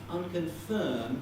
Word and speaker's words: unconfirmed: that um i'm unconfirmed if you look up unconfirmed in the dictionary you'll find it as a double stressed word with a secondary stress there and a primary stress on firm but because it's in a phrase with another strong accent on reports this stress here shifts to that position it's like many many